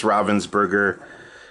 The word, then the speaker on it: Ravensburger: Lastly, from Ravensburger, still haven't 100% confirmed how to pronounce that. I think it's Ravensburger, but it's another different.